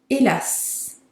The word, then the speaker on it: hélas: Hélas. Hélas. So again, the H is silent and you do pronounce the S at the end, which is not very common.